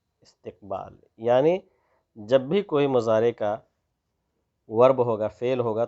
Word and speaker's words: مضارع: میں فعل مضارع، میم ضاد الف را عین، مضارع۔ مضارع جو ہے یہ 2 ٹینس ہمارے لیے، 2 زمانہ ہمارے لیے لے کر کے آتا ہے، ایک حال اور دوسرا استقبال۔ یعنی جب بھی کوئی مضارع کا ورب ہوگا، فعل ہوگا، تو اس کے